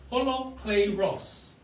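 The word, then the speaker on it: ὁλόκληρος: word hollow clay ross hollow clay ross that's how you pronounce it because i'm packed and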